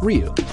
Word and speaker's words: Ryu: Well, Nishiyama's first name is Takashi, and the symbol for that first syllable can also be pronounced Ryu.